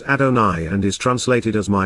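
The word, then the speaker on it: Adonai: Hebrew word to convey sacredness furthermore adona is pronounced adoni and is translated as my Lord and neither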